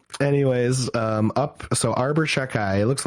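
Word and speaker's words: Xhekaj: um up so Arbor chakai looks like Chicago but I've heard all the announcers pronounce his name and they all say shakai so I guess that's how you pronounce it um up and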